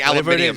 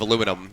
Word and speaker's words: aluminium: It's like the Brits saying aluminium instead of aluminum, you know? I say aluminium. I know you do. It's the British way.